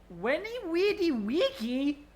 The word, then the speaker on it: Veni Vidi Vici: Apparently Veni Vidi Vici was meant to be pronounced Weni Weedy Wiki.